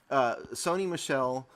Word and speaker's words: Sony Michel: So in other words, the TV and a girl.